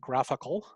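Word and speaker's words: GraphiQL: slash graph iql and a lot of people pronounce it graphical um this is a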